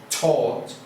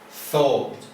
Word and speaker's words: thought: Again, the use of this ought is not pronounced taught, is thought.